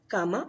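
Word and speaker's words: cama: bed is called comma comma that is called comma in Spanish so this is a bad you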